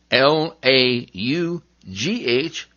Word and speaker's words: laugh: you letter f well sometimes g and h team up to make the f sound like in r o u g h rough l a u g h laugh okay so other times